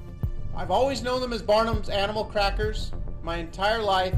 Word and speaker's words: Barnum's: I've always known them as Barnum's animal crackers my entire life.